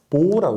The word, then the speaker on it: mho: 이걸 읽을 때는 그래서 모라고 있습니다. 모. 왜냐하면은 옴이요. OHM이거든요. 이거 거꾸로 읽게 되면요. MHO잖아요. 그렇죠? 그래서 읽을 때 이걸 모라고 하게 됩니다.